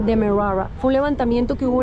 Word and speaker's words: Demerara: yo le dije, mira, no entiendo cómo pronunciar esta palabra, Demerara, y es simplemente Demerara.